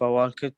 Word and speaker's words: walked: ال هنا أيضا silent لا تنطق. Walked.